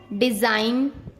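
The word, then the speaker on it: design: जब एन से पहले जी आता है तब हमेशा जी साइलेंट रहता है। जैसे डिजाइन, रिजाइन, campaign, norm, साइन।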